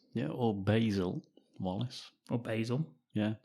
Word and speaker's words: Basil: or Basil. Yeah, Basil? I believe it's the American pronunciation. Basil. Yeah. Basil to us over here.